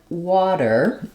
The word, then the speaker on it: water: by an unstressed syllable what that means is in a word like water the W syllable is is stressed so it's longer it has a clear vowel and then my R syllable is short and unstressed same thing in Bottle